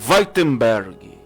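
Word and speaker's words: Wittenberg: na Alemanha, a cidade é Weitenberg, assim é a pronúncia.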